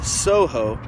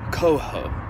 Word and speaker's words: Coho: And everyone keeps pronouncing this Soho, when clearly it says Coho.